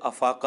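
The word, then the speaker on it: إفاقة: کریں تو، جب انہیں افاقہ ہوا، حالانکہ اردو میں بھی اس کا اصل تلفظ افاقہ ہے اور عربی میں بھی یہ لفظ افاقہ ہی استعمال ہوتا ہے، جیسا کہ صحیح مسلم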